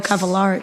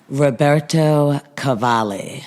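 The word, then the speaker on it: Roberto Cavalli: hope they'll never pronounce Roberto Cavalar. Cavalier wrong. Roberto Cavali.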